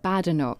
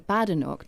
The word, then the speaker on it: Badenoch: You repeatedly referred in your press conference to Kemi Badenoch.